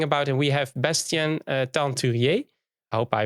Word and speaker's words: Teinturier: We have Bastien Teinturier. I hope I pronounced it right.